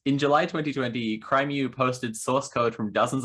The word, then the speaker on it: crimew: Is your name pronounced as crimew? Because exactly, it's a portmanteau of crime and mew, as in the cat noise.